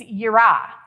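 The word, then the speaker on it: יראה: The second one is yira, and it is spelled Y-I-R-A-H.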